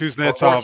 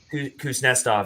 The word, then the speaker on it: Kuznetsov: Kuznetsov is good. Kuznetsov, yeah. Thank you for pronouncing that right for me.